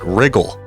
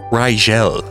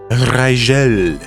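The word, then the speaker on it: Rigel: almost anywhere on Earth also don't call it Riggle because it's pronounced Rael Rael Beetle Juice Beetle Juice Beetle Juice distance from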